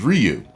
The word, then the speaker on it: Ryu: people were saying that it was produ correct pronunciation is Ryu does that discredit me from being a great